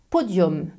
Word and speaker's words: podium: Les mots d'origine latine qui finissent avec U plus M ne se prononcent pas un comme parfum, ils se prononcent homme comme pomme. Voici quelques exemples.